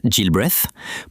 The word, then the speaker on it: Gilbreth: Lilian Muller Gilbreth, pronounced Gilbreath, pushed the idea further during the 1920s and 30s.